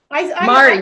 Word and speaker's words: Mari: Did I pronounce it correctly? I think I got that's Mala, right? Mari. Mari.